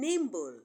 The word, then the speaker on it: nimble: subtle is also silent but the b in Nimble is not silent okay so that is